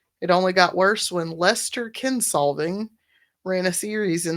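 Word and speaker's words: Leicester: the British people said it's pronounced Lester, not Leeester or Liechester.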